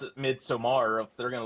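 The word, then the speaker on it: Midsommar: All right film festival and pronounce it midsomar or else they're going to look at you like you're dumb Austin.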